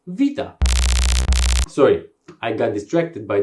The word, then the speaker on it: beta: by a different letter we call it beta but it is pronounced vita sorry i got distracted